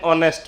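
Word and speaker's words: honest: एन ऑनेस्ट मैन। इसमें H silent होता है।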